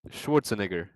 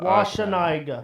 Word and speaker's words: Schwarzenegger: Schwarzenegger.